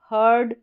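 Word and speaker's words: herd: इस इ का उच्चारण इ नहीं होगा। ए नहीं होगा। अ होगा।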